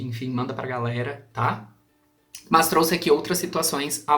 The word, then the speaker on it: mas: pelo contudo pelo todavia na oralidade nós costumamos pronunciar esse mas com um i entre o ar e o s então é muito comum